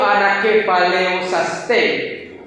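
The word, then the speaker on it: ἀνακεφαλαιώσασθαι: Yo la pronuncio Anakephalayosastai, porque en el griego koiné la A con la I es un diptongo y se suena E, ¿sí?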